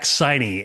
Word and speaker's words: Siney: I got Siney right? Yeah, Siney's great. It obviously rhymes with Heine.